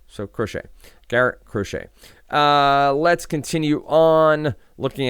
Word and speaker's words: Crochet: long time uh but anyway uh it is crochet so crochet Garrett crochet uh let's continue on looking at matchups what